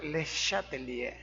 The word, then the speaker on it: Le Chatelier: El principio rector recibe el nombre de principio de, se escribe Le Chatelier, pero se pronuncia Le Chatelier, francés, principio de Le Chatelier.